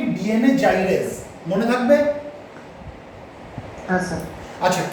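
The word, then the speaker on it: gyrase: হ্যাঁ স্যার আচ্ছা, কেউ কেউ এটাকে বলে থাকে ডিএনএ গাইরেজ, ঠিক আছে? কিন্তু অ্যাকচুয়াল প্রোনাউন্সিয়েশন তুমি যদি করতে চাও, অ্যাকচুয়াল প্রোনাউন্সিয়েশন সেটা হচ্ছে ডিএনএ জাইরেজ, ইট ইজ নট ডিএনএ গাইরেজ।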